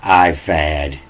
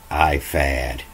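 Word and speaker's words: ephod: it here you know it's spelled e-p-h-o-d but here in in the hebrew it's a p-u-d and they say that's a f as a e fad or ifad so i was reading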